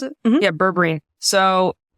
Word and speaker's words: berberine: So apparently there's this supplement called berberine. Is that how you pronounce it? Mm-hmm. Yeah, berberine.